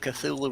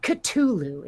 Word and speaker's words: Cthulhu: things certain ways but it is Cthulhu it is not katulu it is a th sound oh okay that's official